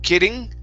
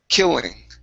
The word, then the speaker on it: killing: uh right here okay give me a good L instead of killing kidding okay H don't hit your tongue as hard against the top of the mouth when you pronounce the L so it's kill killing killing one more time killing killing all right very nice